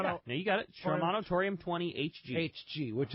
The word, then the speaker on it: Shimano: A Shimano. Yeah, no, you got it. Shimano Torium 20 HG.